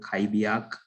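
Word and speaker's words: Xbyak: So Fujitsu was able to achieve this by creating a JIT assembler, and they use this software called Kaibiak Art64. It's pronounced with a K, and they develop it for the ARM processors, and that helps them enable assembly coding to port 1DNN.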